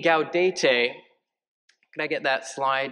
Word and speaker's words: Gaudete: So, first syllable, Gau. Let's hear it. Gau. Second, De. De. Put that together. Gau, De. Gau, De. Te. Te. Put that all together. Gaudete.